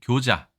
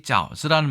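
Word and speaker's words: 餃子: 이 짜오즈라는 말이 북경 표준어니까 짜오즈이고요. 이 말이 사실은 산동, 옌타이, 연대라고 하죠. 연대의 지역 사투리를 보자면 교즈라고 되어 있습니다. 그걸 우리가 교자라고 얘기했는데 우리는 이게 당나라 때의 발음, 당음이기 때문에 이거를 그냥 교자라고 부르는 거죠. 중국에서는 짜오즈라고 불러도 우리는 옛 발음을 따라하기 때문에 독음을 따라하기 교자라고 합니다.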